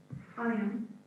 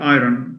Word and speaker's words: iron: So it's I-R-O-U-I-R-O-N, but the R is silent.